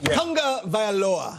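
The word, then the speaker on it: Tagovailoa: approach Ah that's okay Tonga vioa tongue is the first syllable Tonga I practiced it a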